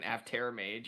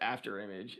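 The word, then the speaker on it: Afterimage: Right before the stream today, I was reading the card and I was like, holy crap, it's pronounced After Image. Now I get it.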